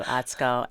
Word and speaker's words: Atsuko: So, there's a U in both your first name and your last name, but the U is silent, right?